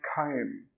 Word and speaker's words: comb: A comb can be a noun and a comb can be a verb. So if we use it as a noun, an example sentence could be, have you seen my comb?